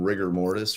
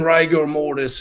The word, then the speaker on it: rigor mortis: I'm like, are you saying it's pronounced rigor mortis? I'm like, so are you telling me that I've been saying it incorrectly like my entire life? He's like, most people do, but it's definitely rigor mortis.